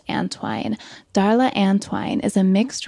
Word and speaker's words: Antoine: long Darla's antwine I hope I didn't say Antwon earlier that's how it's spelled but it's pronounced antwine Darla antwine is a mixed race Okanagan tribal